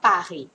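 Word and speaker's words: Paris: คะ แมส แล้ว ก็ ปารี แต่ คำ ว่า ปารี เนี่ย มัน จะ ต้อง อ่าน ให้ ถูก ต้อง ะ เพราะ คำ ว่า ปารี ก็ คือ ปารี นั่น แหละ นะ คะ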